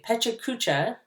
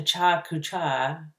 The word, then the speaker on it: Pecha Kucha: week 3 you created a Pecha Kucha which i believe is the correct pronunciation i've had a friend told me it was a cha-cha-cha I don't know but